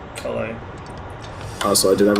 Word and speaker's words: Calais: However you want to pronounce this, Calais, Calais. It's Calais.